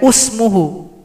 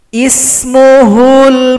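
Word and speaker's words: اسمه: Tidak boleh usmuhu, tapi i harus kasrah. Kenapa? Karena lihat kamus. Karena orang Arab membacanya seperti itu. Ismuhul Masihu Isa bin Maryam. Ismuhul, ismu. Tidak boleh asmu atau usmu, harus ismuhu.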